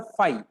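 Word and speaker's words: φ: तो मैथमेटिकली इसका सिंबल होता है, ये जो सिंबल होता है इसका प्रोनाउंसिएशन कैसे होता है? फाई।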